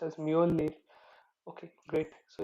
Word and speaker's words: Mjolnir: They named it Mew Mew because this is actually pronounced as Mjolnir.